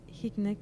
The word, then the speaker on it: Hynek: Una escala que cuando se hizo esta escala, gracias a Allen Hynek, si no me equivoco se pronuncia así, Sí.